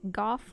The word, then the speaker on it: Goff: It's Goff. Goff like cough because he's named after Goth from Dark Souls who was also blind.